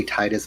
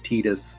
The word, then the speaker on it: Tidus: So we have Tidus, Lulu. I want to say Titus, but it's Tidus.